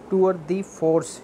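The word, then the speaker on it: tour de force: Achievement, effort, exploit, accomplishment, टूअर दी फोर्स, यहाँ पे टूअर दी फ्रांस नहीं है, टूअर दी फोर्स है, ये भी इडियम है, टूअर दी फोर्स, इसका मतलब है कोई बड़ी अचीवमेंट कर लेना, उसको कहते हैं फीट।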